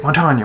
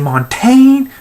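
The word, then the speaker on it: Montagne: Montanya. It's like, who? Who is this Montanya? Oh, you mean Montaigne? Like, no. It's pronounced fucking Montanya!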